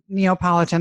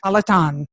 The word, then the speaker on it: Napolitan: I said it right? Not Neapolitan ice cream, Yes. Napolitan, and the work-life balance.